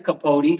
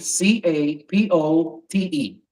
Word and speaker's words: Capote: name, and it's spelled. That's my first name. Yeah. And my last name is Capote, Capote.